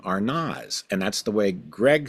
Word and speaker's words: Arnaz: So, there is an a sound, not an ez.